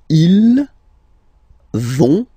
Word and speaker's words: ils vont: So, ils vont, final T, not pronounced. Ils vont.